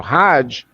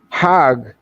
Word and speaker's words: hajj: around the circles now hajj is the pilgrim the mecca hog is the egyptian pronunciation hog in hebrew means